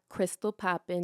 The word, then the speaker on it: Krystall Poppin: find me everywhere at Crystal Poppin that's Crystal with a K and two L's don't misspell and popping with a silent G cuz the g is silent okay Crystal Poppin um